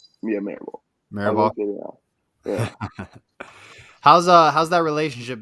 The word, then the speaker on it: Mirabal: Mirabal? Yeah, Mirabal.